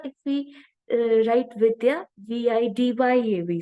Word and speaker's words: Vidya: whereas in India if we uh write viya VI D ya we say but it is Vidya like that's